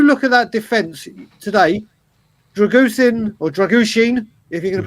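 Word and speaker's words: Drăgușin: If you look at that defence today, Dragushin, if you're going to pronounce it right, and Ben Davies looked very, very composed.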